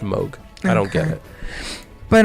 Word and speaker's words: Moog: it Moog No yeah it's spelled move but I guess it's pronounced mogh I don't get it